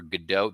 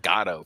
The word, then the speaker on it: Godot: Got to see Waiting for Godot. They pronounce it Gatto for some reason in this performance, which is odd.